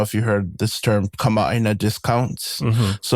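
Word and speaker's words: kamaʻāina: Kamina.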